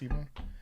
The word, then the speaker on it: Ebon: It's not Eban, it's Ebon.